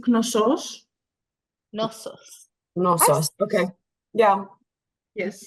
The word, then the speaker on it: Knossos: as the Labyrinth that's my understanding yes it's noos nosus no okay yeah yes I said it